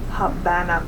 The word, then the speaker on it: Havana: I'm sorry, Havana, Cuba is the correct way to pronounce that.